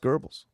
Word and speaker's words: Goebbels: gurbles Joseph Goebbels yeah was spelled Goebbels but if those pronounced gurbles oh you're the history